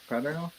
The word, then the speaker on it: Paterno: Paterno, Paterno.